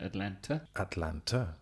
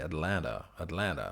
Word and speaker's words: Atlanta: I would pronounce it Atlanta. Atlanta. I would say. And maybe they would say Atlanta, something like this.